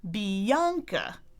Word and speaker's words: Bianca: I'll say, I'm Bianca, E-A-A. Bianca. It rhymes with Sri Lanka, the country.